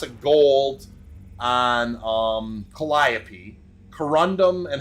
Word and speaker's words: corundum: a touch higher okay this is corundum or conundrum as I mispronounced many times that's a picker right